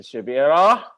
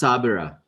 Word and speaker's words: Shabira: they was making, so we got our team over here, Sister Shabira. Sister Shabira. Yep. And It's pronounced Sabira. what happened to The H is silent.